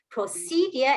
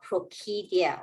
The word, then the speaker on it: procedure: When C Followed by E, I, Y, it says the sound. very good. That's why this word is procedure and not procedure.